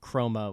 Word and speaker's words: Kroma: So if you're looking at it, it's called Chroma, which is spelled Kroma.